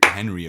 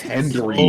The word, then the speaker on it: Hendry: I thought it was Henry at first, but no, it's Henry. I was like, bro, even his last name is spelled fucking idiotic, bro. It's Hendry. So funny.